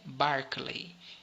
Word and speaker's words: Berkeley: o nome dele errado apesar de estar escrito berkley a pronúncia é barkley então o barkley era